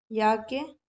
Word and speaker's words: याज्ञवल्क्य: आप बोलते होंगे इसको, याज्ञवल्क्य। एक्चुअली में ये ज्ञ नहीं होता है, इसको बोला जाता है ज्य। ठीक है, इसका जो प्रोनाउंसिएशन है वो ज्ञ नहीं होता, ज्य होता है।